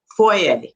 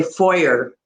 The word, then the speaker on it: foyer: you enter, the entranceway, is I would say foyer, is the foyer. And in the US they say foyer. Oh my goodness, that sounds so strange to me, but it's spelled Foyer, right? same But spelling. we're like half French, right? So a lot of what our words and our pronunciation does also come from French, whereas it doesn't in